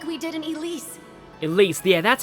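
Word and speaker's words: Ylisse: Elise, yeah, that's how it's pronounced.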